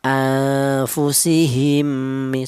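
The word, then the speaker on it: أنفسهم: Cara bacanya anfu ya jangan terlalu sama seperti ini. Anfu jangan atau terlalu dengung. Anfu juga jangan. Pertengahan antara samar dan dengung. Anfu seperti itu panjangnya dua ketukan. Anfusihimmi seperti itu.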